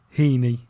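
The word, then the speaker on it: Hini: visit to sometimes but but it's actually Heeney yeah Haney yes Haney right I got it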